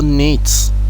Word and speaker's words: knit: To knit. Knit, knit. The same rule here.